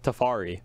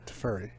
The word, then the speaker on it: Teferi: I've never heard of Tefari. Teferi. Teferi? Well, I think all are fine.